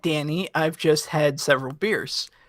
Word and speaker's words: Danny: I just want to know, is this now the second time that David's mispronounced Danny Baranowski as Derry Baranowski? Did I hear that right? No, he's clearly educated on the remake. I said Danny.